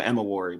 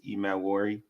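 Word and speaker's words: Emmanwori: Nigerian name Manu Mani Emi the should be silent Emi people say Emma wari but I em wor yeah so it's interesting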